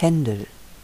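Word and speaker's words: Händel: Bruckner Gustav mer Johann Sebastian Bach Georg Friedrich Hendel ludwig van bethofen Karl Maria von Weber Felix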